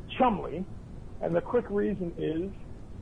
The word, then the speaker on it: Cholmondeley: that's the correct spelling it's a very old name and you pronounce it chumly and the quick reason